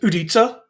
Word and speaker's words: udica: Now, in North America, you'd probably pronounce this Utica. But if you were a Czech engineer, you would pronounce it Udica, which apparently is Czech for fishing rod.